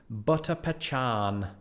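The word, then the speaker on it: butter pecan: cars and finally and there's really only one way to pronounce this butter pachan butter pachan is without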